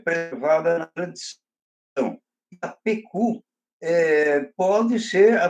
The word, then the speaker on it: Itapocu: para você, e também, até porque até o Itapucu também, entre as várias pronúncias do nome Itapucu, foi registrado também Itapecu, Itapicu, Itapuca.